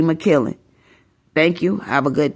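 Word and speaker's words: Makiling: M A K I L I N G, and how you would say my name in the Philippines will be McKillen.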